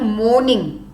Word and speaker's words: mourning: सो से मोर्निंग, आर is silent, it stops over your. मॉर्निंग, उसमें में एक हल्का सा र का साउंड होगा, बट नॉट मॉर्निंग. इट इज र इज यहां तक आते स्टॉप होगा, it's just slight sound of र. बट मोर्निंग में नो र, is silent are.